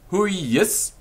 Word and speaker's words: hujus: and the genitive who he is that's h-u-j-u-s who he is b-a-c-u-l-i who is bakuli who is bakuli of